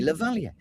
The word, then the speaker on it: lavalier: It's a French origin word. So you should say lavalier.